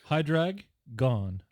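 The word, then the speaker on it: Hydraggon: Hydragon? Hydragon? It's a Hydragon. Hydrag gone. There's 2 G's in there, so I'm gonna hit them both.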